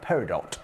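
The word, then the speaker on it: peridot: Okay, so £7.99 for completely natural Arizona parido or paridot as I believe our American friends pronounce it.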